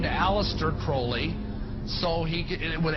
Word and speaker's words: Crowley: aliser Crawley he likes to have his name pronounced Crowley to rhyme with hly and uh the satanists